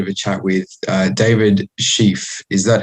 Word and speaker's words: Schefe: Today we're going to be having a bit of a chat with David Schefe. Is that how I pronounce it correctly, David?